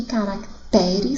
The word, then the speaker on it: caracteres: Caráter, sílaba tônica cará, e caracteres, sílaba tônica te, ok?